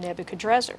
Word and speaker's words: Nebuchadnezzar: notice I use the pronunciation Nebuchadnezzar.